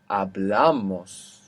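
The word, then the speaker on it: hablamos: So Spanish says if a word ends in n, s or vowel, the natural accent will be on the penultimate syllable, the second last syllable. Different abl. Ablan. Ablas. Ablamos ending s but we're adding two syllables so it's still on the second last ablamos important addictivo.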